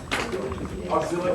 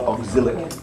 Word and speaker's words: oxalic: I think the oxalic acid might be hot now, we might repeat it, eh? So what number are we going back to? 4. Permanganates. Oxalic acid. Oxalic, not auxilic.